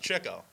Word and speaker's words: Chico: grouo Chico and Harpo actually it's pronounced Cho yeah czecho yeah Cu uh you see the reason for uh the name of chicko is because he used to chase chicks oh really so he